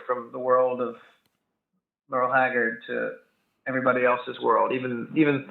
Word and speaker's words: Haggard: You pronounce it Haggard, which is like how David Allan Coe kind of pronounces him in his song "You Never Even Called Me by My Name."